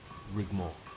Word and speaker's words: Rigmor: clown he's a jestica it's pronounced rig more even rendar is a